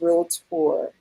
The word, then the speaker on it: realtor: carolina i am a licensed realtor two syllables not dude okay um i am